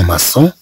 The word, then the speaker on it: maçon: كما نلاحظ بأن كلمة لوماسون أن السي جاءت متبوعة بأو في الأصل تعطينا الصوت كو عندما ننطقها. إذا نريد أن تعطينا الصوت كصوت إس إذا طبعا نضيف لها الجزئية لوماسون.